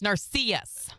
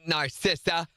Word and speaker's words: Narcissa: Bryson says, by the way, it's pronounced Narcissus. Narcissus, not Narcissa.